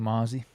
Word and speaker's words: Mazi: And then we'll wrap it up with Mazi, or is Mazi? I think that's how you say it, right? Mazi? I think Mozzie. Mozzie. I've heard Yeah, Mozzie. I've heard Mozzie.